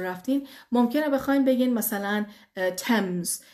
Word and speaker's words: Thames: ممکنه بخواین بگین مثلا تمز. خوبه که درست بشه، تلفظ بشه تمز.